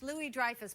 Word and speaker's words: Louis-Dreyfus: well there ya know it's actually French Louie Dreyfus but you're always mispronouncing